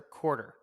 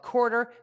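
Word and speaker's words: Quartr: Before we finish the cash flow statement, we want to give a shout out to today's sponsor, Quarter.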